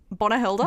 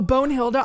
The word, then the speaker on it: Bonehilda: Bonahilda? Don Lothario. Oh, Bonehilda.